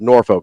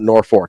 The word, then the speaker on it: Norfolk: to tell you like Norfolk is pronounced Norfolk not Norfork I don't I don't